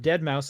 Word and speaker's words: deadmau5: with the spirit of dead mouse around them great also came up and he said hey i'm you know my stage name is deadmau5 yes that's the way you're supposed to pronounce it and then he